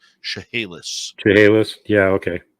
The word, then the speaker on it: Chehalis: Burns, who was a teacher on the Chehalis Indian Reserve in British Columbia. And I'm just going to correct you on the pronunciation there. Chehalis.